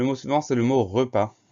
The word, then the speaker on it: repas: souvent c'est le mot repas première syllabe reperdent tout va bien deux syllabes pas p a s ça veut dire qu'on a une lettre muette le est ce qu'on